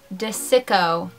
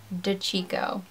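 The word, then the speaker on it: DiCicco: the video she said it's not pat de sicko you moronic gothic wench it's pronounced DeCicco moronic gothic wench this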